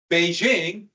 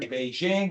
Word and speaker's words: Beijing: days in Pay King because of the British bastardization and mispronunciation of Beijing when I was in school I didn't learn Beijing which is closer to the actual pronunciation still not quite correct but I learned ping